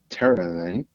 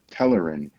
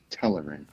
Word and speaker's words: Telerin: B terarian. Cindarian. And B. And let me amend. Let me amend. B is pronounced Telerin. Telerin.